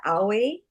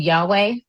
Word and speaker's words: Yahweh: So this is is this parallel to owi the you know owi like they the Judea Judaism and I might not be pronouncing it right but um you mean Yahweh?